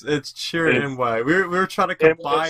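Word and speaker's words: Chirrut Îmwe: And then You you have have me try to mispronounce them. No, it's Chirin Imwe.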